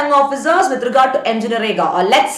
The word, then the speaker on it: MNREGA: So now, taking into consideration the rural population, the unemployment perspective, this MNREGA, or you can even pronounce as Manrega, that was introduced.